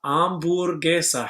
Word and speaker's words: hamburguesa: Our answer would be hamburguesa. Hamburguesa has the word ham at the beginning. Of course, we don't pronounce ham because it has a silent H, so it is hamburguesa.